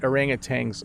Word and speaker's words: orangutan: the pronunciation yeah so don't don't pronounce orangutan the way i do i don't think you're supposed to say tang at the end but that's how i